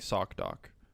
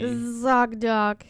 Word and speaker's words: ZocDoc: Sounds like you're saying sock doc. And then when you say Z, you're like Z. ZocDoc. But you still say S though.